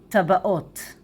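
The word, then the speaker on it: טבעות: And ring in Hebrew is tabat, rings, tabaot. Tabat, tabaat, tabaat. Tabaat, tabaat, and plural, tabaot, tabaot, tabaot, tabaot.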